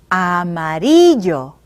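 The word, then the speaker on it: amarillo: Joe is yellow now let's be sure you know how to say it correctly listen escuchen Amory Joe ah Marie Joe say the parts of the word after me ah ma 3 yo now say the whole word after me ah Marie Joe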